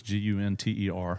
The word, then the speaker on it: Gunter: I say it like it's got two N's in it, but it's Gunter.